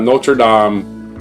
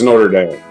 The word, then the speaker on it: Notre Dame: officially chartered that's right it's not notredam I don't care what you French want to call it it's Notre Dame cuz it's in Indiana and they're not going to pronounce it your French way that's way they we're